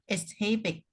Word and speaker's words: exhibit: destroyed our early man exhibit and burned down a prehistoric hut. Cái từ exhibit có 2 cái đọc, một cái là exhibit, Còn không thì chỉ đọc là exhibit thôi, bỏ âm h, exhibit.